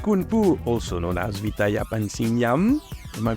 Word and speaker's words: Vithaya Pansringarm: We are back and still with Kun Pu, also known as VITHAYA PANSRINGARM. Am I pronouncing correctly?